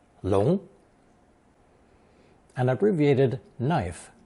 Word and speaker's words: 龙: Now we come to the main phonetic character in today's lesson, the character for the dragon, pronounced second tone, 龙.